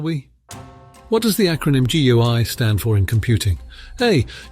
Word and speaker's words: GUI: steeper learning curve when the GUI pronounced GUI was made available by Apple Computers in 1983.